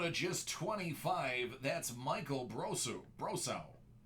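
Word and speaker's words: Brosseau: Out of just 25, that's Michael Brosau. Or technically it'd be Brosu. Depends on if he pronounces it the French way or not. Brosu would be French. Brosau would probably be Cajun.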